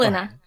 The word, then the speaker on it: Kalyna: You're the founder of forgive me if I'm pronouncing them, Kalyna Marketing. Did I get that Yeah. right? Or Kalina. But it's Kalyna.